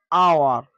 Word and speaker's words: hour: H is silent at the beginning of some words. For examples, hour, honest, honesty, honor, honorable, air.